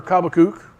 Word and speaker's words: Habakkuk: And his answer to Habakkuk, or Habakkuk, how it's supposed to be pronounced, is don't worry about it.